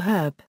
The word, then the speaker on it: herb: Unlike British English, American English typically uses in before herb since the H in this word is silent for most Americans.